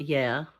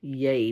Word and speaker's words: Yay: The people in Yay. It's not yeah, because yeah spelled with an H on the end, people. This is Yay with no H.